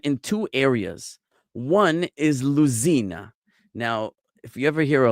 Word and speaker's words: Lucena: One is Luzina. Now, if you ever hear like a Hispanic person talk, the Z sound they pronounce like an S. So this would be like Lucina or Lucena, which is a place in Spain.